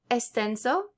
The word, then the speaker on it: extenso: It's pronounced like S if it's before a consonant. So explicar, extenso.